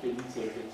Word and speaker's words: Elisabeth: Cioè, Elisabeth, si pronuncia così.